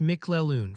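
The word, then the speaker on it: McClellan: That name is pronounced Mikleoon for those wondering.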